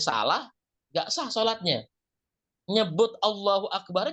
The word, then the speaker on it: Allahu akbar: nggak sah salatnya nyebut Allahu akbar juga mesti betul Allahu akbar Allahu akbar jangan Allahu akbar artinya kalau yang tadi Allahu Akbar Allah Maha Besar kalau kita bacanya Allahu akbar artinya jadi Apakah Allah Maha Besar berubah atau misalnya kita Takbiratul Islam maka akan berubah juga artinya jadi Allah bedug gendang ini bahasa Arab itu panjang pendeknya berubah aja sudah